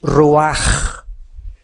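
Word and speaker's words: רוח: Y exhaló Isaac el ruaj, que se tradujo espíritu y se escribe ruach con ch. La palabra hebrea para espíritu es ruach y la ch se pronuncia como j.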